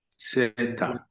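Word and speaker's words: ζῆτα: Zeta, Zeta, Zeta, con Z de aviso.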